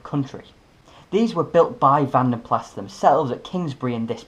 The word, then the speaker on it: Van den Plas: Just a quick note, it's pronounced Van den Plas, not Van den Pla. It's a name of Flemish origin therefore it's pronounced with the S.